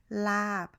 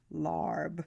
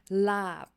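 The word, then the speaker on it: ลาบ: dish is Laab, not Larb. Yes. The R, just It's ignore not there. the R. Pretend you're British for a second and say it as if a British person would say it. Laab, without Why- rolling the R.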